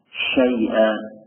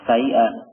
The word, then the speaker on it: شيئا: Syai'a, nah, bukan sai'a, bukan kayak sin, tapi di sana ada sya, syai'a.